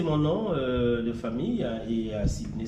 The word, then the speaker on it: Sidney: c'est mon nom de famille et Sidney, c'est mon prénom, comme la ville de Sydney. Sauf que mon Sidney s'écrit avec S-I et non S-Y.